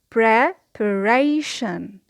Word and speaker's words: preparation: So we say preparation. Preparation. The secondary stress here is on the first syllable.